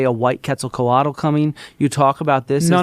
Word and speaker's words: Quetzalcoatl: Quetzalcoatl. You can't even fucking say it right, you stupid fucking cracker barrel. You dumbass white boy. Quetzalcoatl.